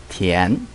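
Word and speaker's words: 田: This means field, and the pronunciation is tian.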